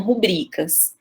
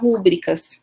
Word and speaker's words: rubricas: E as pessoas me corrigem falando que são rubricas. Eu já consultei alguns professores de português e alguns me disseram que eu posso pronunciar rúbricas, tá?